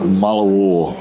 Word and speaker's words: Mullewa: we're in Helen anel's Art Gallery here in Mala War which is the correct pronunciation spectacular what his so what do you